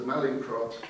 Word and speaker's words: Mallinckrodt: reliably informed by colleagues on my table is pronounced the Mallinckrodt Chair of Divinity for 12 years.